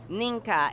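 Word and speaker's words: Mnike: That and Ninka. It is spelled M-N-I-K.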